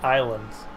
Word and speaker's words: Ylands: It's YLANDS. Y-lands. But they pronounce it islands.